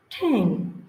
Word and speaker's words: ten: Queen, কুইনের সাথে যদি আমরা লিখি QUILT কুইল্ট, উচ্চারণটা হবে কুইল্ট। টাকা দিয়ে যদি এরকম লিখি TEN ঠ্যাং ঠ্যাং।